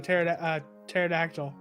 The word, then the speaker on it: pterodactyl: No, the T's silent. The T's silent, like in pterodactyl. So it's. Wait a minute. Wait, what? The T is silent in pterodactyl.